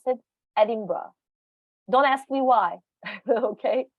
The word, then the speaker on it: Edinburgh: you edinburgh usually here in the uk people pronounce it edinburgh don't ask me why okay don't ask me